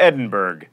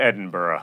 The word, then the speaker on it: Edinburgh: the epitome of mispronunciation you don't go to edinburgh you go to edinburgh it's not ethereal it's